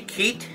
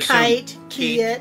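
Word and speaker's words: Keitt: mango so it's a keat is a keith is that how you pronounce it k-e-i-t-t i would kite i would assume keat but anyhow uh the the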